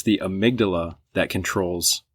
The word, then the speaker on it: amygdala: So like the way to think about it is it's Amy G. Dalla if you spell it out.